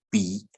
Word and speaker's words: 杯: 比如说这个一杯酒的杯，好，它念成了杯啊，这是海陆的杯。那四线腔呢，我们会讲鼻一鼻酒哈。 bui 跟 bi 的差别啊，那个海陆